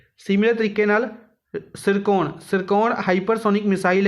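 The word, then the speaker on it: Tsirkon: है hypersonic missile त्र सरकन सिरको basically T silent इस विच सिर कोन सिरको नाम द जड़ी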